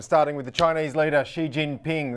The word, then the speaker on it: Xi Jinping: with the Chinese leader Xi Jinping that's right it's XI Jin Bing there's tones involved It's Tricky that'll get you close